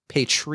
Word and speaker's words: Patreon: you should do in the situation just over pronounce it patreon oh that's what I've been doing this whole